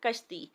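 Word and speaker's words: کَشتی: تبدیلی آئی ہے۔ کاف کے اوپر زبر لگا تو لفظ بن گیا کشتی، کاف کے اوپر پیش لگا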